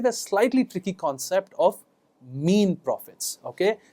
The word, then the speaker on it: mesne: slightly tricky concept of mean profits okay it's spelled MSN profits it's not mesn it's mean profits okay so what are